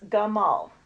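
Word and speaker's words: גמל: Hebrew word for camel which instead of being gimel is gummel I hope I didn't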